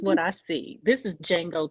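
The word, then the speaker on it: Django: I see this is D Jango 2.0 the D is silent they are silencing yep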